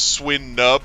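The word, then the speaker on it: Swinub: English Navy convention was was swin nub like like a nub like like is it a small bump and then and then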